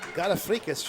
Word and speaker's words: Garafrikas: I said, is it Garafrikas? She said, oh yes, very good.